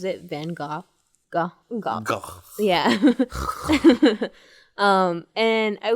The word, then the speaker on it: Van Gogh: the relay, and there was a painting by Van Gogh, which I know I'm pronouncing the name wrong. But he pronounces the name right. He pronounces it Van Gogh.